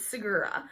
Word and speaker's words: Segura: I've looked up how to pronounce it. It's Segura.